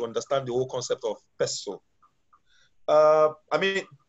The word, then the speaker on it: PESTLE: the whole concept of pestle. I mean, some people call it pestle, but I mean, what I know it as is pestle.